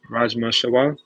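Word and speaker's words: rajma chawal: Rajma Shaw, that's how you pronounce it.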